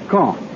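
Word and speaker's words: Caen: these reported military operations is K I'll spell that c a en the big city at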